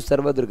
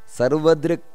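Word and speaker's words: ಸರ್ವದೃಕ್: ಅಮೃತ್ಯು ಅಲ್ಲಿ ವಿಸರ್ಗ ಇದೆ ಅಮೃತ್ಯು ಸರ್ವದ್ರಿಕ್ ಅಮೃತ್ಯು ಸರ್ವದ್ರಿ ಅಷ್ಟೇ ಅಲ್ಲ ಅಮೃತ್ಯು ಸರ್ವದ್ರಿಗ ಅಲ್ಲ ಅಮೃತ್ಯು ಸರ್ವದ್ರಿಕ್ ಸಿಂಹ ಸಂಧಾತ ಸಿಂಹ ಅಂತ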